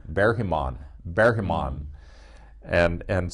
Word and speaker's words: Ingmar Bergman: in the beginning like like the Swedish director who was often called ingmar Bergman no no bear him on bear him on and